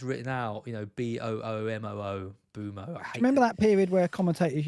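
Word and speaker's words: Mbeumo: Boomoo, Bumo. Remember that period where commentators used to go Buemo, or they used to have like 4 different pronunciations. Yeah. I've listened to the Premier League official pronunciation of Mbumo, so now I'm on the ball.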